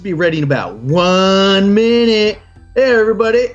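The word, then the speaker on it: Minit: and by the way it's spelled m-i-n-i-t so if you search for it's not spelled like actual minute but uh it's um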